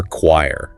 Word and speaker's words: choir: How to remember choir. Think of choir as a group focused on harmony. The silent H might even suggest harmony or quiet focus.